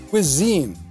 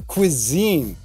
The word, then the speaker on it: cuisine: The next two are cousin and cuisine. We have cousin like that. That's a short U sound. Kuh, kuh. And compare that to cuisine. Cuisine.